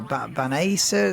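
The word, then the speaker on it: Băneasa: But um, yeah, 14 miles east of Banasa or Banasa they calling it. I don't really know how you pronounce it. It's spelled Baniasa, but Banasa might be the correct way to pronounce it, but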